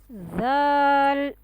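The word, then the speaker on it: ذ: Tip of the tongue will touch at the edge of the upper front two teeth like in sa. Gently and more softly. Gently and more softly in case of letter zal.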